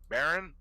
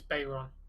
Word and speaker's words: Bayron: Baron? I pronounced it Bayron. Baron. No, because a Baron would not have the Y. It's Bayron.